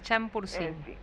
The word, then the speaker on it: Champourcín: ella, Ernestina de Champursen, aunque muchos dicen Champursin, y le ponen tilde, el tilde español, no el tilde grave francés que vendría ahí. Bueno, yo lo pronuncié en francés, pero no sé, capaz que se pronuncia diferente. Yo le digo Champursen, pero en realidad aparentemente es Champursin. Ah, es Champursin.